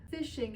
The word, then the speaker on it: phishing: it really kind of works the same way fishing it's spelled p i s h i n g